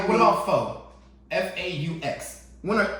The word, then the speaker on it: faux: because you just told Like, me what about faux? F-A-U-X. When are A, U, and X ever pronounced faux?